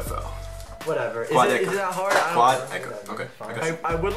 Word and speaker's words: Quadeca: It's Quadeca. Quad. You know the word quad? Quad? Think of a quad.